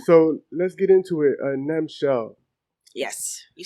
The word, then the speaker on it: Nemchel: Nemchel. Yes. You said it right. Yeah. People usually don't say what? Right. I've heard Nemchel a lot. I hear Nemchel, like 3 syllables.